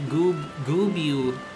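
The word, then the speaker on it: Goobbue: Well, you're saying it wrong. It's not Gubu, it's Gubu. Listen, okay, I understand that in Final Fantasy XIV, the way the voice actors pronounce it is Gubu. Okay, but look how you spell it, alright? Sound that shit out. Hold on. As someone who spent a decade of their life playing Final Fantasy XI, it is and always will be Goobu in my brain, alright?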